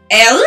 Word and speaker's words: Ale: you know most importantly my name is ella you have to say it like that every time uh i'm gonna struggle